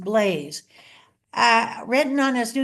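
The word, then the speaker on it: Balázs: Blaze and it's spelled b a l azs pronounced Blaze uh written on his new year's card over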